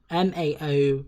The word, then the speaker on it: Mao: Yeah, it's pronounced Mao. M-A-O...